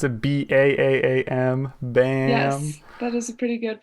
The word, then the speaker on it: B.A.A.A.M.: april here from bam is that how you pronounce it b-a-a-a-m bam that is a pretty good pronunciation which is